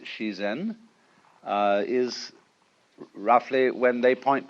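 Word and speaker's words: 自然: Daoism, or the Japanese pronounce it shizen, is roughly when they point to all the things happening around us, that's ziran.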